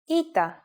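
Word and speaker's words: ήτα: first letter is a vowel ITA which makes an e sound like I said before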